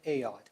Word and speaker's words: Ayotte: the record please State your full name and spell it out ayotte a-y-o-t-t-e first name require that the